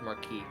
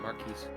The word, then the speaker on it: marquee: The word is pronounced marquee, not mares.